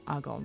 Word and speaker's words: Agon: going to call it agon which is the UK pronunciation of it um agon which is an action-packed